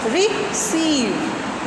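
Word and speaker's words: receive: तो जो रिसीव जो है, इसमें सीव पर हमारा आप सामने एक मार्क देख रहे हैं, ये मार्क शो कर रहा है कि इस सिलेबल पर स्ट्रेस होगा. यानी जब हम इसको प्रोनाउंसिएशन इस वर्ड की करेंगे तो क्या करेंगे, रिसीव. यानी सीव को हम, ड्यूरेशन भी हमारा उसे बोलने में ज़्यादा लगेगा, पिच भी हमारी हाई रहेगी और वॉल्यूम भी हम थोड़ा सा हाई रखेंगे.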